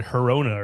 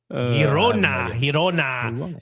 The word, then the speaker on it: Girona: Yeah, it actually pissed me off when you said Girona or something. Like, what? Why would you say it like that? Girona.